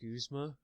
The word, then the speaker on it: Guzma: Except for your boy Guzma! It's actually pronounced Guzma.